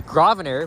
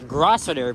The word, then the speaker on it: Grosvenor: Anyway, the street name here, it's Grosvenor, but if you're visiting from outside the city, you may think that it's pronounced as Grosvenor, but no, the S is silent. Just drop the S, and you'll be fine with it.